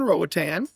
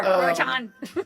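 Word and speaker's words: Roatán: Roatan. What's been... Ratitan? That's what I'm still here. I'm still here for pronunciation and spelling. Roatan. Roatan. The I can't roll my R.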